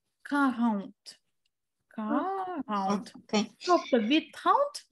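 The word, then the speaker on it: quarante: Тобто 40 це в нас читається як карант.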